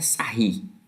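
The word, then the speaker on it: Sarrus: A escrita é Sarros, mas a pronúncia é Sarri. Tá? Ele é francês.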